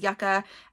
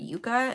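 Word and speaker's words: yucca: my very first episode I called it Yuka and I realized Yuka is a root yaka is a flower and they are pronounced differently anyway um here is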